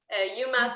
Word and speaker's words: Uma: J'ai choisi Uma, U-M-A, comme l'actrice Uma Thurman. Donc, on pourrait prononcer Uma, Uma.